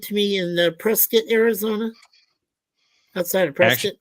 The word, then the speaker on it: Prescott: It's pronounced Prescott, not Prescott.